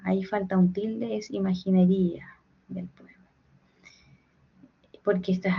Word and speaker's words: imaginería: Es imaginería del poema porque esta es aguda, ¿cierto? Palabra e Pero hay un yato. Es una excepción porque acá se corta la sílaba. Es grave. Entonces, perdón, es es grave.